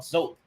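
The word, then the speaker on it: Zoap: had a strain called Zope. And that's basically soap, spelled like soap with a Z.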